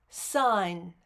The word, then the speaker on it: sign: to investigate the pronunciation pronounce the word sign sign how many sounds do you feel do you feel three sounds in a word phonemes represent one or